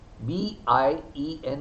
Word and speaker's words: bien: Give it a consonant like B, B-I-E-N is bien, U-I is oui.